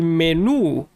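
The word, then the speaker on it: menú: El menu. The menu. So, yeah, it looks just like English, but with an accent on the letter U.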